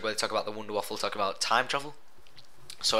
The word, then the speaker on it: Wunderwaffe: new Easter egg where they talk about the Wunderwaffle, talk about time travel. So everyone knows, like, if you use the Wunderwaffe. How should we pronounce it? Wunderwaffe.